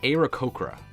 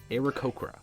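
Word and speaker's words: Aarakocra: oh this is perfect I had to look up how to pronounce this one it's aoka aoka aoka yes I'm just going to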